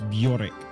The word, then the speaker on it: Bjork: It's Bjork. Bjorek. Think of it like beer is in the drink, and then Yeah. Oric.